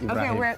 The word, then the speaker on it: Ibrahim: just cut the A and put Ibrahim.